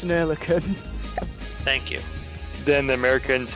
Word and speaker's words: Oerlikon: Yeah, they had like the 20mm Olicon or something like that. Ocaron. Yeah. I'm sure I'm butchering the pronunciation of that, but yeah. Yeah, it's an Oerlikon.